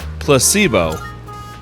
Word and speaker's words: placebo: Repeat after me. Placebo H. The stress is on the middle syllable. Choose option one. Placebo.